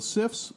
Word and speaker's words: CIF: Australia but the cifs it's pronounced cifs CIF were also a devisive